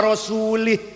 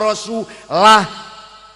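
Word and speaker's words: وَرَسُولُهُ: Innallaha barium minal musyrikina wa rasulih. Allah orang lindungi orang musyrik dan tidak melindungi rasulnya. Salah bacanya. Innallaha barium minal musyrikina wa rasulah. Ini beda lah karo lih.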